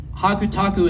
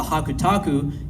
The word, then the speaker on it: Hakutaku: And hakutaku itself is just basically, you know, the same characters you see there, but pronounced in the Japanese way.